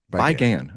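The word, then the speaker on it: Bi Gan: Resurrection, I never know how to pronounce this director's name. Is it Bygone? Bygone.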